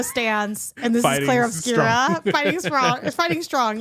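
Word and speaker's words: Clair Obscur: I was calling it Claire Obscura. Yeah. It's not called Claire Obscura, it's Claire Obscura.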